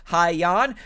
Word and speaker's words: Hyan: is of haiyan uh i looked up a bunch of videos on how to say her name and that's how i believe you say her name haiyon trained by hall of